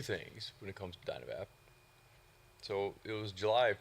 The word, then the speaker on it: Dynavap: because it's been Dynavap from the beginning, without an E, and wanted to try and give some meaning to the fact that there's no E, and the pronunciation being pronounced without the E, because the product not